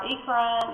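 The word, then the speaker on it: eccrine: and one here and these are ecran or Ean I say Ean so I can spell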